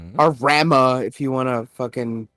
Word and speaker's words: Ramuh: you have Ifrit, Shiva, Bahamut, Titan, let's see, Ramu, or Rama if you want to fucking be a pronunciation Nazi.